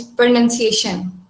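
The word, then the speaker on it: pronunciation: और second word जो था, जो कि मोस्टली स्टूडेंट्स मिस प्रोनाउंस करते हैं, दैट इज प्रोनाउंसिएशन. प्रोनाउंसिएशन. उसको ओके. प्रोनाउंसिएशन नहीं पढ़ना है, नाउन नहीं बोलना है, नन बोलना है, ओके.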